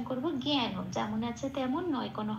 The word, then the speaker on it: জ্ঞান: জ্ঞান যেমন আছে তেমন, নয় কোনো হসন্ত নেই, তাই ন পূর্ণ রূপে বলতে হবে জ্ঞান বলে, জ্ঞান বলতে পারবো না, জ্ঞান।